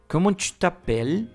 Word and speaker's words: t'appelles: la lengua Hola voal tapel y Bueno aquí en tapel no vas a pronunciar la s ni la e final hay otra regla en